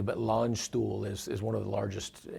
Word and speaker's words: Landstuhl: Yeah, so it's, I'll pronounce it correctly, but Landstuhl is one of the largest, you know, military